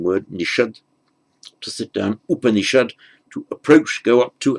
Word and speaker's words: Upanishad: Remember the S becomes a sh, followed by a vowel other than a or a in the same word, so immediately preceding in